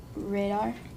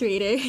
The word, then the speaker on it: Raider: Commissioner Radar. Here. How do you say it? It's just Raider. Oh, Raider.